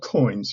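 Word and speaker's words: Coince: The name of the program is called Coins. You spell that C-O-I-N-C-E.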